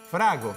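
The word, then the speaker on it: frango: Frago, sí, se dice frago en portugués, ¿no es cierto?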